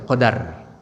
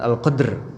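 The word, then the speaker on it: قدر: Qadr bifadli dengan Fatah ada bacanya Qadar bukan al-qadr bukan dengan sukun tapi dengan Fatah Al Qadar hai hai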